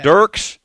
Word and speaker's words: Dirks: So, uh, and it goes I think originally it's Dirks. Like I think that's honestly the the correct pro pronunciation, but everybody from Derek's says Derek's and all the older crowd says Dirks. So, and out of town people say Durks.